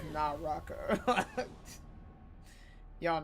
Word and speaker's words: Naraka: Nakura. I feel like I'm saying it wrong. The game that we used to play. Naka. Naka. Okay, I've mixed the I put Nara, but it's Naraka.